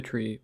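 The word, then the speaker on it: trie: It uses something called a tree, spelled with an I, which categorizes strings alphabetically,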